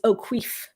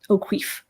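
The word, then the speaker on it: O'Cuive: is a funny name it's spelled o cuive but according to the audiobook it is o'queef that is how it is pronounced o'queef so they go to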